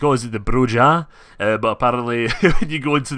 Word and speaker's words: Brujah: I know originally I was like always into brujah but partly you go into the vampire the